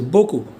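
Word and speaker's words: beaucoup: for you here foreign so we don't pronounce p so Boku a lot or very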